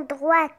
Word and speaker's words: droit: gauche ça s'appelle bouton droite bouton droit le T ne se prononce pas pourquoi on a